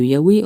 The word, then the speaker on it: Yahweh: reçu les instructions de Yahvé ou de Yahweh, on prononce comme on veut.